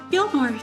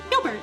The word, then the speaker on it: Gilbert: Yes, Gilmore. Delmor's own steward, right? Gilbert. I said his name wrong.